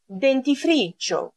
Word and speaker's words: dentifricio: Dentifricio. Denti είναι τα δόντια. Dentifricio. Προσοχή, όταν έχω NT, NT, δεν το προφέρω ND όπως στα ελληνικά, αλλά NT, dentifricio.